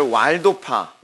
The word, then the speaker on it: 왈도: 근데이 도미니칸 수도회가 사실은 우리가 이제 살펴보야 될 왈도파 또는 발도파라고 하는데 이게 독일로 W가 비읍 발음을 하잖아요. 그래서이 영어식을 하면 왈도 또는 어 독일식을 되면 발도라고도 이렇게 반응합니다.이 발도파 또는 왈도파이 왈도파의 탁월함이 있습니다.